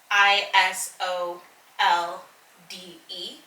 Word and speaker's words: Isolde: believe this name assault i s o l d e i i actually never maybe i should see how you pronounce that zelda is zolda zelda okay isolde is how i'm told so this particular book